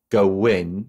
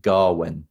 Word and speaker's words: Gawain: read it as as go win gawain but in the movie they pronounce it garwin well okay yeah garwin